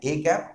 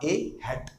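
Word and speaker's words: â: ठीक है, इसका प्रोनाउंसिएशन है ए कैप और ए हैट भी आप इसको बोल सकते हैं।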